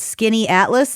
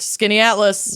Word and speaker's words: Skaneateles: Uh, I can't believe that this is how you pronounce it, but Skinny Atlas Lake. Correct. Skinny Atlas.